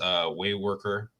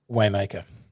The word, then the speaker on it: Waymaker: You started a business, Wayworker. Wait, did I say it right? Wayworker? Waymaker. Waymaker. Mm.